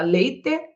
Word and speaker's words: leite: já muda isso naturalmente você pronuncia a palavra leite ou você fala Leite você fala pente ou você fala pente acredito que você pronuncie o som do hino lugar do e bebo leite pegue o